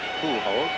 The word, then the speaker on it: Pujols: That is the correct language pronunciation, by the way, Pujols.